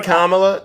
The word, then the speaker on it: Kamala: especially since Biden nor Kamala uh you mean Kamala you mean Kam you know you mean if